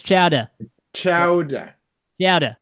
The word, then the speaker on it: chowder: didn't say it right Chow you got you gotta say it right it's chow chow CH but all right yeah you gota put that New England Accent on there man ch